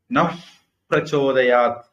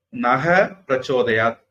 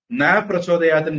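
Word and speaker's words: नः प्रचोदयात्: பர்கோ தேவஸ்ய தீமஹி தியோ யோ நஹ் பிரச்சோதயாத் அப்படின்னு சொல்லணும், அல்லது நக பிரச்சோதயாத் அப்படின்னு சொல்லணும். ந பிரச்சோதயாத்ன்னு சொன்னா என் அறிவு வழங்காம போகட்டும் அப்படின்னு அர்த்தம். அதனால இந்த ரெண்டு உச்சரிப்புல ஒண்ணுதான் சொல்லணும். மூணாவதா ஒண்ணு சொன்னா எதிர்பதமான அர்த்தம் வந்துடும்.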